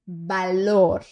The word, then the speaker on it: valor: Aquello que no es útil no tiene valor. Vamos lá. Este V E todos os outros V do espanhol têm som de B de bola, ok?